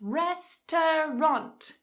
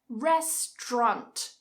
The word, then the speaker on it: restaurant: Restaurant, restaurant, restaurant. Cut a syllable. Restaurant, restaurant. So remember that t, r, ch.